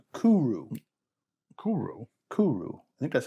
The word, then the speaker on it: Kuri: It's Kuru. Kuru. I think that's how they pronounce it. Okay. Yeah. Not curry. That's how I would pronounce it. Yes. No, it's Kuru. And I think it sounds like Kooroo.